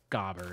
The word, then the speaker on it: Gobber: thing or not, but the comments would like you to know that it's pronounced gobber. If you didn't know that, and if you say goober just to goober it up, I totally get it. That's what I would do. That's incorrect. I think they're wrong about the pronunciation. Yeah, it's definitely gobber, right?